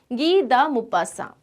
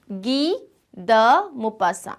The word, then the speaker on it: Guy de Maupassant: This is a French name. It is Guy de Maupassant. Guy de Maupassant, not G. Guy de Maupassant. Okay, how do we pronounce it? Once again, Guy de Maupassant.